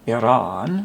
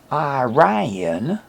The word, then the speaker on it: Iran: who are called Iranians reporters in Iran say Iranian or Iranian plural but everywhere else that I've heard including in the EU I've heard the strange word Iranians even after they refer to the country as Iran Iran becomes Iran why they add this mysterious IE vow to the word that's not there